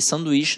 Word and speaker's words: sanduíche: Esse, gente, tem um H ali, hein? Mas olha só, não é o NH. O bizu é o NH, que deixa nasalizado. E sanduíche não fica nasalizado, eu digo sanduíche.